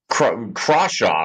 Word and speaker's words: Crawshaw: And obviously, the only thing that we know right now is that we know very little, but consistently, Crawshaw, right? Am I pronouncing that Oh correctly?